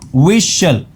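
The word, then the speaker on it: whistle: इसमें T silent होता है। याद रखना। विशल श पढ़ेंगे इसको।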